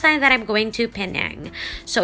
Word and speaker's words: Penang: Wow, this is Penang, or Penang, as what the locals say it, known for food, scenery, beaches, and great Airbnbs.